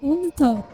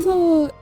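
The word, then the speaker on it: Ubtao: and he goes, "It is the symbol of Unto." As do you if you should spell know that? what that is. It is spelled U-B-T-A-O.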